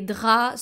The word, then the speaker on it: draps: Les draps, so the P here is silent, les draps. And of course also the letter S.